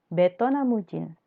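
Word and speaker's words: ベトナム人: Vietnamujin artinya orang Vietnam. Jadi V itu dibacanya dengan B. Tidak ada V dalam bahasa Jepang, tapi diganti menjadi B. Jadi Vietnamese jadi Vietnam. Vietnam.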